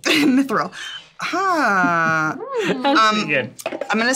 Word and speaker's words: mithril: is a bathtub concoction it's pronounced um mithril mithril um i'm gonna say